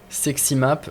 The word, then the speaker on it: Sexy Map: Sexy Map, comme ça se prononce, sexy, tout attaché avec map.